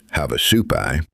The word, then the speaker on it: Havasupai: These include the Havasupai, pronounced Havasupai, The Hualapai, pronounced Wallapai, the Hopi, the Navajo, Southern Paiute nations, and the Pueblo of Zuni.